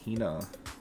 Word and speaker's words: Hina: The irony of my statement is I know one of those 2 people refuses to say her name correctly. That's a funny one. Who would kick Hina in the butt? I don't know. That's like really rude. It's Hina.